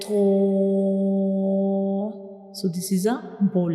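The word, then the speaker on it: طاء: When we read tho, the sound remains into the mouth, it doesn't spills out. We read it with heavy sound like tho.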